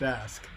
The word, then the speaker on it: ask: Is it ax or ask? First of all, it's pronounced ask.